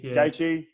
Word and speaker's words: Gaethje: I was looking forward to Ferguson Khabib, and then once that was changed to, is it Gaethje? How do you pronounce his last name? Gaethje.